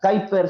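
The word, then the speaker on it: Kuyper: Ahora bien, ¿quién fue Abram Kaiper? Sí, que se pronuncia Kiper, se escribe Kuiper.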